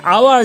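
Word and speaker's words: hour: কখনো কখনো কনসোনেন্ট দিয়ে স্টার্ট হওয়া শব্দের আগে যদি এইচ থাকে এবং সেই এইচ এর উচ্চারণ যদি না হয়, তখন সেক্ষেত্রে আমরা এ না বসিয়ে এন বসাই।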